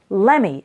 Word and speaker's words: let me: and when speaking fast we pronounce it like lemme so I would my